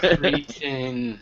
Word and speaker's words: cretin: that you're a hopeless cretin. Cretin. Cretin. Well, it's pronounced cretin in British, and I consider myself British, so there you go.